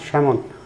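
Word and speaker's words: salmon: ক্ষেত্রে কার সালমন তারপরে ফাইক উচ্চারণ কিন্তু লেখা আছে সালমন না স্যামন সমন এখানে জটিল কিছু নাইযে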